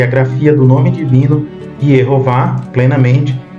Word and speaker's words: Yehová: aqui o nome divino com o tetragrama e as vogais E, O e A, para se pronunciar em hebraico Yehová.